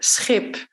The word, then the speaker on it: schip: So think of ship, which would be schip. Or sheep, which would be schaap.